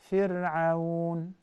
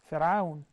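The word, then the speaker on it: فرعون: If the previous letter has Kasra, then it will be thinned. Like what? When you say Fir'aun, Fir'aun, the letter Ra is Sakina, but the previous letter has a Kasra. So you say Fir'aun. Look at the Ra, Fir'aun.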